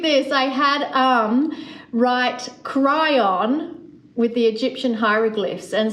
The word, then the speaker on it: Kryon: and they used to write down as they pronounce the name like the sound of it we say cryon so it's k r y o n and